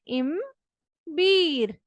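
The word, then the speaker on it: имбирь: Ginger को कहते हैं इमबीर।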